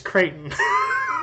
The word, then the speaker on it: Creighton: Creighton, like from Tarzan. No, that's Clayton. That was Clayton. That's Clayton. Yeah, that's a name, Clayton. This is Creighton.